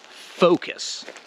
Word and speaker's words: focus: video i want to talk about the proper pronunciation of this word which is focus focus often time i hear people who are